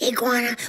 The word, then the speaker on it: iguana: I mean, technically, it's iguana, but I think that they mean for us to say iguana.